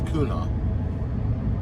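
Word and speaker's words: Quanah: my videos um and they gave me the correct pronunciation and I do believe it's kuna qu a n a h and uh interesting area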